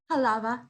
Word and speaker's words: Halva: Halava. Just how it's spelled.